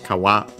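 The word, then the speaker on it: 皮: Uh uh yeah it's the same ki uh in Japanese the strictly Japanese term is kawa accent on the last moa which means skin.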